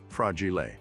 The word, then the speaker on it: fragile: simultaneously taught us that fragile is an Italian word pronounced fragile he's the guy who